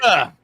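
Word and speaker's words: Sláinte: Slanta. That's how I pronounce it, right? Slanta. Yeah. Slanta. Slanta. Yep. From I'm Irish. It's Irish.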